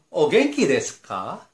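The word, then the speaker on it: お元気ですか: Berikutnya yang kita akan pelajari, minasan, kata sapaan berikutnya adalah ogenki desu ka? Ogenki desu ka itu diucapkan naik ke atas, ya, yang artinya apa kabar?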